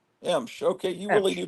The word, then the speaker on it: Emsh: So how do you actually pronounce it, or have you ever actually tried to pronounce it? It's just Emsh. Emsh.